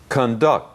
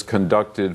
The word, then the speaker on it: conduct: Conduct. 进行。 Mrs. Withers conducted 4 interviews this morning to find the best person to fill the management position.